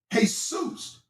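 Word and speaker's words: Jesús: It's the same thing with the J in Spanish. You don't pronounce the J. You pronounce Jesus. You don't pronounce the J letter. You pronounce it with a H sound.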